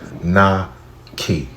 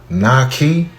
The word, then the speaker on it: Naki: right it's not key it's not key it's very simple n key two syllables easy so lady though you